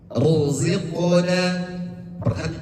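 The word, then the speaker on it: رزقنا: Contoh yang kedua, ruziqna. Perhatikan rnya ruziqna. Ruziqna. Rnya tebal.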